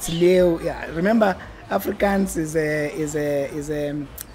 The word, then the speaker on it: Leeuw: You know, so the way you spell my surname is how lion is spelled in a Dutch language. Okay. But in Afrikaans they drop the W.